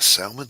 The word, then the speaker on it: salmon: Don't pronounce the L, Doc.